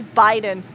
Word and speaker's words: Biden: No, it's not bidden, it's Biden.